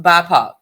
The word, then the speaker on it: BIPOC: Okay, it's pronounced BIPOC.